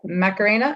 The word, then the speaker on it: Macarena: would like to uh do a report uh macarena i think is your name correct is that am i pronouncing that correctly yes that's correct okay she